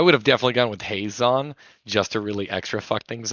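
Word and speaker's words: Hazezon: we have a straight commander cardigan this is hazazon shaper of sand did i say it right i would have definitely gone with haze on just to really extra things over but i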